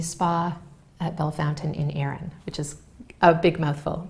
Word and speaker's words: Erin: Erin, that's right.